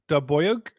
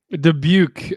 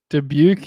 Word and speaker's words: Dubuque: Daboyuk? Is that I was trying to pronounce I was going to pronounce Dabuik, but that definitely is not the right name. That's okay. Looks like she's saying it's Dubuque. Dubuque. Okay.